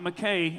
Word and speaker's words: Mackay: It's not Mackay announcers at the National Finals Rodeo. Say it right for them, Kai. It's Mackay. Mackay. Quit saying Mackay. Just because it's spelled that way. Again, that's not how you say it.